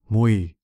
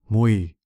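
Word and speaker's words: မြွေ: Mui. Mui. Can you pronounce it the same way as Zhao?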